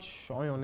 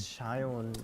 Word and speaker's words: Sayan: Sayan, like there's like no S sound in Bengali, so technically my name is still pronounced. Shoyon. No, it's not Shoyon, it's Shayon.